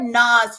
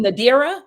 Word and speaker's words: Nadira: with nas NS you know what I've said Nas for so long because Nas is your it